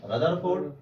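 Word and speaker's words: Rutherford: रदरफोर्ड। कभी कभी रुदरफोर्ड भी लोग पढ़ देते हैं, तो रदरफोर्ड का चाहे रुदरफोर्ड, स्पेलिंग रुदरफोर्ड की है तो आप पढ़ सकते हो रुदरफोर्ड।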